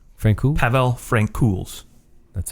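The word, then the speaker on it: Francouz: got interesting because Frank Frank K Frank pavl Frank KS that's how you say it yeah yeah Frank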